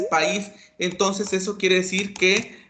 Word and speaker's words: país: el país a no pues la palabra correcta es país entonces eso quiere decir